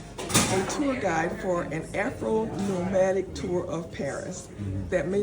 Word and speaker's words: Afronomadik: So yes, you did say the name right. It's Afronomadik, but it's spelled with a K at the end.